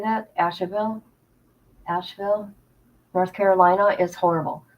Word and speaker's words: Asheville: North Carolina Ash how do you say that Asheville Asheville North Carolina is horrible horrible horrible horrible